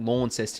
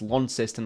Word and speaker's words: Launceston: Stadium uh down on Launceston not law incest in its Launceston that's what people tell